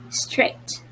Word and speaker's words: straight: noticed not all letters are sounded g and h were silent it wasn't red and it is read differently because a and i were read as one it sounded a right so it was read as straight okay next what do